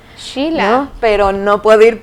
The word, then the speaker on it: Sheila: con el primer nombre la pronunciación correcta es shila shila no pero no puedo